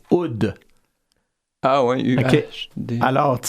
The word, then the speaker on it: Uhde: alors, c'est très important, il faut le prononcer et dire que ça se prononce Oud.